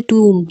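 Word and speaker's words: tomb: टूम ऑफ her memorial T ओ एम बी इसे टूम T double O एम टूम pronounce करना है U turn this house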